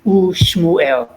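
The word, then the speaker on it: וּשְׁמוּאֵל: And in this case, we don't combine it with the next letter to form a closed syllable. We would recite the U, then the name Shmuel. U Shmuel and Samuel.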